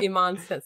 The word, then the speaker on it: Iman: coming up fast folks is the pronunciation of your last name Iman it is yep that's right okay not like David Bowie's wife right no no it sounds Iman much fancier but yeah it does